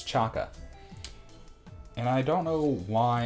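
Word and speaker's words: Chaca: Because I just realized the other day, I've been calling her Chacha, and I think it's Chaka.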